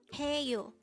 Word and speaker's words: 해요: only here at they hangle word number 269 hey you this is composed of two syllables the first syllable is he and the